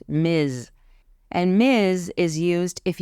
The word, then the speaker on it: Ms: for all adult women Miz even though it has an S it's pronounced with a zed sound Miz and Miz is used